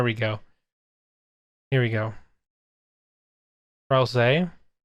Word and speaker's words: Ralsei: Ralsei. Japanese confirms the say pronunciation. Ralsei. Oh, it's an anagram of Azrael.